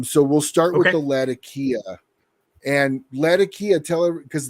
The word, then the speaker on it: Latakia: uh is is correctly Latakia um which is how they pronounce the name of the city in Syria uh Latakia or lazakia uh is